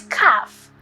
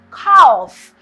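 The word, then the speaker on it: calf: are grades 9 is cuff it is anonymous commonly mispronounced as calls but my dear the L is silent all right so it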